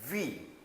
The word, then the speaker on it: huit: it from the listening then there's no sound of th, it just simply say that we. Okay? We.